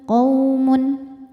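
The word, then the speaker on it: قَوْمٌ: Nah, kemarin kaum kalau berhenti madlin, kalau terus hukumnya hanya huruf lin saja karena ada wau sukun didahului baris fathah. Dibacanya tidak dipanjangkan melainkan cukup dilembutkan. Quun qaumun.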